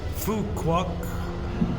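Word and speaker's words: Phú Quốc: the most famous islands, Phu Quoc and Phu Phuket. They sell t-shirts in Thailand because the PH is pronounced P. You don't pronounce the H.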